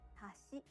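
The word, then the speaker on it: 橋: it means chopsticks but if you say hashi it means bridge let's hear the difference again hashi chopsticks hashi bridge in japanese each syllable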